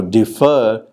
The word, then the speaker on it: defer: pair differ and defer now defer has the second syllable stressed there were many consequences